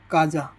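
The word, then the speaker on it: casa: ए एस ए काजा सी के बाद में क्या आ गया ए आ गया तो इसका उच्चारण क्या हो जाएगा इसका उच्चारण हो जाएगा का क की तरह उच्चारण करेंगे ना तो इसका उच्चारण हो जाएगा क की तरह तो सी यहां पर क बन गया तो यह हो गया काजा काजा यानी घर कानने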